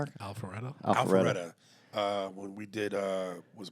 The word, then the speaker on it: Alpharetta: Alpharetta.